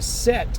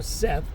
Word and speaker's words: Set: All of this too ties into Set or Satuk or Seth, however you want to pronounce it, depending if you're using the Greek, the ancient Egyptian hieroglyphic, the Metu Neter, however you're going to use and pronounce it.